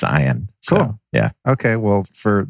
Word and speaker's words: Ian: why is your name spelled like ian but pronounced iron because it's phonetically correct